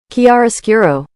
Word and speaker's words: chiaroscuro: This is how you pronounce it. Kiariro.